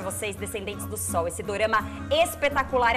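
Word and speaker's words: ドラマ: Na verdade, dorama vem da pronúncia como é ali na língua asiática, da palavra drama.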